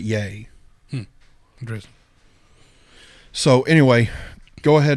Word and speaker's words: Ye: It's not ye. He pronounces it yay.